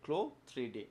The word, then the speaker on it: CLO3D: ঠিক আছে, ক্লোথসের ক্লোটা উচ্চারণ হবে ক্লো 3D।